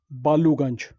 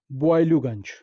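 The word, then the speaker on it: Boileauganj: The famous area to the western end of Shimla, Boiluganj, is named after him. Locally, we have spoiled the pronunciation of Boiluganj to Baluganj. Actually, it is pronounced as Boiluganj.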